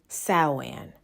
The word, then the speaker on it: Samhain: Sawan. However, it is not pronounced like how it's spelled.